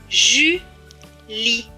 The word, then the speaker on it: Julie: Et à la fin, le E ne se prononce pas puisqu'il est écrit en bleu. Donc ce mot va se lire Julie.